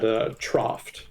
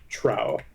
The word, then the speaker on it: trough: trying to say, but instead I pronounced it trow. So trowed. And nobody knew what the fuck that was supposed to mean, because that's not even remotely close to trough.